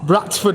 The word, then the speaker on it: Bradford: If we wanted to, we could say Bradford, but I don't know, it's our natural thing to say it without the D.